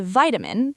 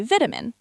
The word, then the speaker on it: vitamin: Americans say vitamin. British say vitamin.